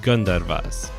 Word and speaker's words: Gandharvas: often wives of the Gandharvas or if I were to try and pronounce it more correctly gun divas quick sidenote about the